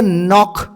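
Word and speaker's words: knock: नो एनओ ठीक आहे के एनओ सी के नॉक ठीक आहे एनओ सी के नॉक के सायलेंट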